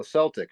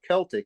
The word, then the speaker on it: Celtic: soccer fans they follow Celtic not Celtic you pronounce the soft sea the team is in